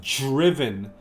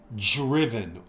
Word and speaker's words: driven: If you hear the pronunciation of driven, that DR, we kind of pronounce it like JR. Driven. We don't really say driven.